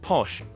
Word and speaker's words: pox: chamola church which feature the spirit known as pox pronounced posh which was employed by